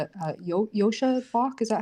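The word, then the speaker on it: Joscha Bach: Uh there's even an email from the uh Yosha Bach, is that how you pronounce it?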